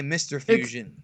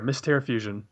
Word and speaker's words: Mr. Fusion: Or is it Mistare Fusion? I always say Mr. Fusion. It's It's Mistair. Mistair Fusion. Mister. I've been saying it wrong the whole But I got it from freaking Juan Mr.